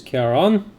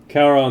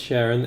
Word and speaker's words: Charon: No, it's not pronounced Sharon, and it's not pronounced Karen either.